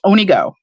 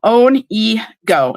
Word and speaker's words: Onigo: It is pronounced Onigo. So Onigo. And it literally means let's go in a mixture of French and English.